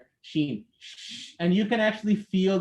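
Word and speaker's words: ش: uh moving forward that when you're pronouncing a sheen the tongue should obviously not touch the top part of your mouth because if it touches it you'll be pronouncing a gene a gm and sheem or a sheen are pronounced on the exact same area the only difference between the two is that in the sheen you don't touch the top part of your mouth but in a gene it touches it so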